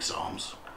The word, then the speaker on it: psalms: other hint for finding psalms is to remember that it actually starts with the letter p not an s it's one of those words with a silent first letter so it's spelled p